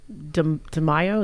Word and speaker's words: DeMaio: Then the second argument that is presented essentially by Carl DeMaio, is that how you say his name?